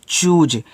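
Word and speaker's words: choose: देखो इसको पढ़ते हैं चूज। तो सी और एच आपका यहां पे बनाएंगे च। देखो जब सी के साथ एच होता है तो च ही बनता है। कहीं भी हो। अब डबल ओ है तो बड़ा ऊ का मात्रा। देखो जब एस के साथ इ लगा हुआ आता है ना तो एस को ज्यादा करके हम ज के रूप में पढ़ते हैं।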